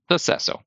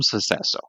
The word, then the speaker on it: sucesso: So successo. Very smooth, very fast. You say bom sucesso, like good success.